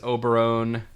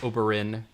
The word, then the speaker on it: Oberyn: of prince oberone oberyn i always frances auberin like obelisk the tormentor i always call say his name wrong i always call it oberon like uh like some sort of like fantasy creature but not oberyn so eat a toblerone